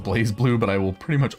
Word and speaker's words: BlazBlue: love blazblue and i know that it's technically pronounced blaze blue but i will pretty much always pronounce it blast blue because i don't know i'm an idiot